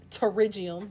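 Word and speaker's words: pterygium: now a nail terium that word terium the p is silent because the English language is crazy all right it's AB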